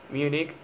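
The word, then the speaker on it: Múnich: serías dos premios oscar munich en español cuando se traduce literal habría que ponerle el acento en la u es una palabra grave para la región destitución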